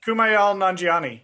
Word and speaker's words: Kumail Nanjiani: So one of the guys, his name is Kumail Nanjiani. I think that's how you say it. Kumail Nanjiani.